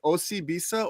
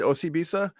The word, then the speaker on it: Osibisa: So I will just say it's Osibisa.